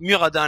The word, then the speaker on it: Muradin: En principe il faut prononcer Muradin parce qu'il le dit, il s'appelle lui-même, enfin quand il parle de lui-même il dit Muradin, mais moi je trouve que Muradin, enfin j'ai plus l'habitude de dire Muradin, puis Muradin ça rime avec assassin, donc voilà.